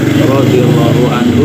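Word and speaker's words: رضي الله عنه: Radhiallahu anhu disingkat RAR R. A ya itu bacanya adalah radhiallahu anhu.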